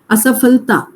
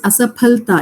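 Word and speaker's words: असफलता: Hindi you say fal, asafalta. But here it is asaphalta, it is pa.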